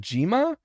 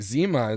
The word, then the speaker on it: Zima: And, Well, that was like Zima, because when I heard it, I thought, is that Jima? But then it's actually like Zima, like ZHIMA.